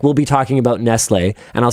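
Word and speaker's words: Nestlé: That pronunciation is Nestle. The pronunciation. What do you think that accent aigu is? That's how you pronounce it.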